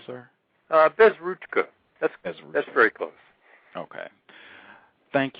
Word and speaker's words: Bezruchka: I want to make sure I'm pronouncing his name correctly. Did I get your name correctly, sir? Bezruchka.